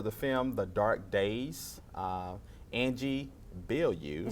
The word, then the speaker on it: Angie Bilyeu: I'm here with another exciting talent for the film The Dark Days, Angie Bilyeu. You said it right. You said it Yeah, right.